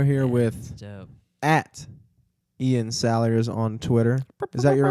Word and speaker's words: Salyers: I was- Your name makes sense, like the way it's spelled. I mean, it's pretty much Salyers, Salyers. Like, how can you get it People- wrong? People Yeah. try. That's what they. People say Slayer a lot.